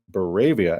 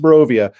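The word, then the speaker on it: Barovia: town of Ravenloft morovia in my video I called it bere via and I still get so much crap from people that act like they must be from there and I mispronounce the name because they took that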